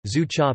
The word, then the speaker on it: 珠茶: Gunpowder tea, Chinese, zhu cha, pinyin, zhu cha, literally, pearl tea, pronounced yu, is a form of Chinese tea